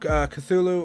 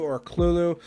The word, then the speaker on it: Cthulhu: Lovecraft the Call of Cthulhu ork Lulu depending on where you originate and how you pronounce it but this is a